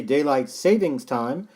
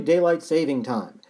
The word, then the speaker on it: daylight saving time: nobody even pronounces properly most people will say daylight savings time somehow mixing it up with a savings bank but it's actually daylight saving time it's the time that